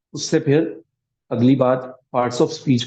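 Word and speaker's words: باء: के पढ़ेंगे प्रोनाउंस करेंगे जैसे बा एक ऐसा हर्फ है जिसको अरबी में एक ही आवाज के साथ बे करके पढ़ा जा जाता है अरबी में उसको बा पढ़ा जाएगा मैं ऐसे अल्फाज को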